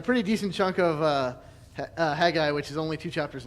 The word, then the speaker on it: Haggai: So, tonight in theory we will finish off the minor prophets with Haggai properly pronounced, Zechariah and Malachi.